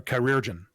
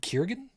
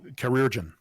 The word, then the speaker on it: chirurgeon: You say it's pronounced Bartholomew. No. No, it's Bob. Chirurgeon. Or chirurgeon.